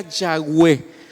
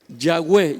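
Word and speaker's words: Yahweh: pero si somos honestos el gh wv que es como se escribe el nombre de dios la pronunciación más acerca da a eso sería ya web yagüe ya hemos hablado de eso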